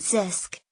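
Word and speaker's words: CISC: we discussed earlier Sisk Sisk pronounced Sisk stands for a complex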